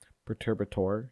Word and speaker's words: Perturbator: I probably didn't say that name at all, but Perturbator, yeah, that's definitely how you say it.